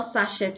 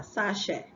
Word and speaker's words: sachet: We have sachet, not sachet of water, sachet. Okay, so the T is silent.